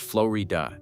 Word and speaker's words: Florida: The Florida mountains, pronounced flowy dua, jaggedly rise in the background.